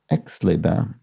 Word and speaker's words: Aix-les-Bains: mentioned in yesterday's puzzle, it is pronounced Aix-les-Bains, not, I think I probably said A-I-X, I probably said A or something like that, but it's Aix-les-Bains.